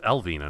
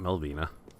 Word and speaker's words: Elvina: spider shield cool beans i mispronounced her name its Elvina not Melvina I feel really bad